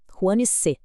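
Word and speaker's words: 黄色: Huanse, amarelo. A pronúncia pede o uso do segundo tom, aquele som ascendente que eleva a voz.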